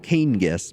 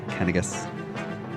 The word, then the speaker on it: Canas: like uh canas it's his name looks like it would be pronounced Kanas but no it's kenas so again thank you